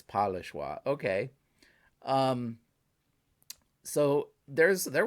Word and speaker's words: Pas le choix: was pretty cool um okay so the s is silent i should have known that because um you're in iowa well you have illinois which i believe is a the s is silent des moines is silent i should know that so it's polishwa okay um so there's